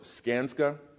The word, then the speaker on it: Skanska: hatch Joey is the co-chief operating officer for scansa is that pronounced right skanska all right I was studying that all morning